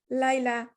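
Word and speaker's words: ليلى: So it's pronounced like a alif. Laila, like a short alif.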